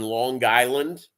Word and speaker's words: Long Island: She and her husband live on Long Island. Got a hard G there, and she does the Island